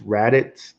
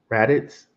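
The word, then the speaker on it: Radix: be Caspa Dag um I think it's rits I almost always say it wrong xrd r a d i x I think rits um those are some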